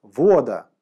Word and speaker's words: Вода: Левая Рука Мужчины-Воина называлась Вода, с ударением на О.